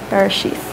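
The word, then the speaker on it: בראשית: So the name of this book is the Hebrew word Bereshith. I pronounce it as if it's a sheath, Bereshith.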